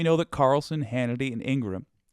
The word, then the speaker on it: Ingraham: that Carlson Hannity and Ingram Ingraham I can't believe that's the correct way to say her name but it is uh didn't believe the